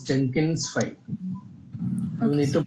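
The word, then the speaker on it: Jenkinsfile: wait wait wait wait it's it's not Jenkin file it's Jenkins file you need to pronounce the right tool name at least okay sir Yes, go ahead.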